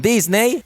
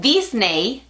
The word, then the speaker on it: Disney: Now, Samsung has released an official package feat Disney. (It isn't "disney" [Spanish pronunciation], it's disney [English pronunciation].